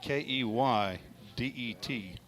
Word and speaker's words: Keydet: A cadet. Or cadet, whichever way. Well, it's Keydet. That's how it's pronounced, or how it's spelled.